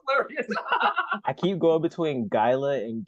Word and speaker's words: Guilla: when I think about just think like Guillotine just without the team yes but not guia